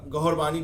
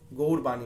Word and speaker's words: गौड़वाणी: तो ये धीरे धीरे उसको गौड़वाणी या गौरवाणी बोला जाता था। लेकिन ओरिजिन जो है वो गौड़ है, उसका प्रोनाउंस गौड़वाणी बोला जाता है उसको।